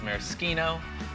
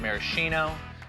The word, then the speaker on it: maraschino: Next, the maraschino. Spelled the same as the Sunday cherries, but by the strange rules of Italian pronunciation, it is maraschino, not maraschino.